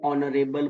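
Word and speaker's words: honourable: तो इन सारे वर्ड्स में ये जो एच होता है ना ये बेसिकली समझो है ही नहीं। ये साइलेंट होता है। इसमें कभी भी इन वर्ड्स में हम ह साउंड प्रोनंसिएट नहीं करते।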